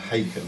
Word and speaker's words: Haken: Well, it's pronounced Haken. Yeah, but if you're Australian, you'd say Haken. Haken. And we always say Haken as in bacon.